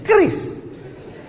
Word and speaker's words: QRIS: Cara bacanya gimana sebetulnya? Kris. Q-nya quick.